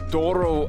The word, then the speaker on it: Douro: But we have woken up in the Douro Valley. Am I saying it right, Nina? Yes. My little pronunciation girl.